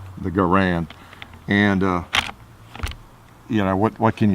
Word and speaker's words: Garand: it or did I I'm not gonna call it a Garen even though that's the way John garand pronounced his name everybody calls this the garand it's always been the